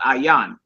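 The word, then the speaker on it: ע: actually means your i i in Hebrew is aan that's the name of that letter aan I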